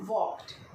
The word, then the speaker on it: walked: इसको पढ़ेंगे हम वॉक्ड. Okay. वॉक्ड. Here L is silent. यहाँ पर L को स्पेलिंग में तो लिखेंगे, लेकिन इसको जब बोलेंगे वर्ड तो ये साउंड नहीं आएगा, L का साउंड नहीं आएगा.